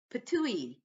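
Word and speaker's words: Ptuj: Slovenia I went to a town called pouille yes it sounds like it's spitting something up it is spelled PT UJ and I spent two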